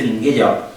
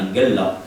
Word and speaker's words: Minguella: Aquella época, según nos dice Minguella, si no queremos pronunciar la italiana, Minghella, en su historia de